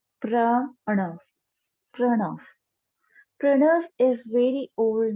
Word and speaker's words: pranav: So, I'm going to write it down for you and explain you what actually the pranav meditation. uh, the pronunciation is pranav, pranav, pranav. Again, I'm repeating the pronunciation pranav, pranav.